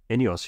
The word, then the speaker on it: INEOS: Eunice, is it Eunice or Eunice? Ineos, yeah, I don't know why. It's pronounced like some Greek warrior or something.